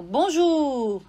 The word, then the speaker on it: Bonjour: aqui ó Bonjour né Você percebeu que o r ele aparece um pouquinho quando eu falo Bonjour né ele é suave mas ele aparece a gente pronuncia mas